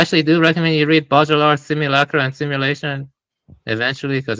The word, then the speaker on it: Baudrillard: I actually do recommend you read Baudrillard's Simulacra and Simulation eventually, because it's very tied into all of this.